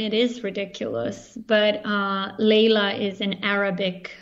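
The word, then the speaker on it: Lejla: me with the pronunciation is it layla it's like it's like the clapton song okay i got it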